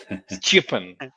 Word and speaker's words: Stjepan: Stipan. Shippen. Chippin. Stipan. Stippen. The J is a Y, but it's not a vowel. So Stipan.